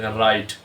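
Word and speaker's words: write: हम देख लेते हैं बहुत ही कमन राइट डब् से शुरू हो रहा है लेकिन साउंड किसकी दे रहा है आर की राइट रेस्ट कलाई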